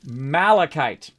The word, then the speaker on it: malachite: Malachite.